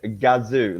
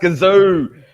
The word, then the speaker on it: Gazoo: It's pronounced gazoo. Bloody hell. Kazoo like a kazoo. No, you pronounce it like the Japanese pronounce it because they obviously, the Toyota people that pronounce it.